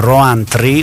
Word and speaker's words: Rowntree: Because my surname is Rowntree, or better, Roantri, or La Festa di Noantri.